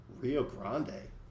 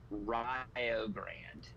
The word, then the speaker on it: Rio Grande: That is uh they're they're like in Indiana and they pronounce and there in Indiana they pronounce it Rio Grand that yeah that that sounds like it breaks every rule that's wrong.